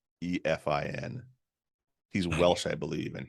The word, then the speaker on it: Cynefin: Sure, it does, and it sounds nothing like how it's spelled. Nothing like how it sounds. It's Cynefin.